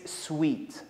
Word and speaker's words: suite: this hotel so remember the correct pronunciation is sweet the last mispronounced word